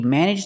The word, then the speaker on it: managed: Again, the pronunciation managed in the past. Managed the company. You make a stop D and it links together with the. So you don't really hear the D.